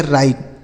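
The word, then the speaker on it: write: आगे लिखा है डब्ल्यू आर आई टी ई। इसे पढ़ेंगे राइट। डब्ल्यू आर आई टी ई राइट। यहां डब्ल्यू साइलेंट है। मतलब इसे नहीं बोला जाता है। नहीं पढ़ा जाता है।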